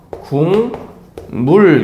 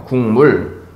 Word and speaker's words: 국물: 볼게요 요거 국물 여러분들 국물 같은 경우에는 어떻게 발음 돼요 궁물 렇게 발음됩니다 궁물 자 그러면 기억과 미음이 있을